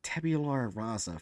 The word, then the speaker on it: tabula rasa: Anyways, okay, so do we want to read Nibbles or Tabula Rasa first?